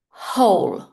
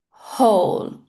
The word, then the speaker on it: whole: guarantee not warranty guarantee And the final one W H here we are going to make the W silent. It's not wall it's whole whole. So, the W in this word is silent.